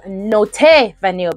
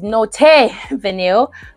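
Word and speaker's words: Not Vanille: said layer it with Note vanil because somebody corrected me and said it's not not vanil it's not vanil but it's spelled n o t which is not but anyhow this is not vanil by MF this was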